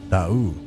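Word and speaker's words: D'Aoust: Look, guys, we'll be right back with Da'u.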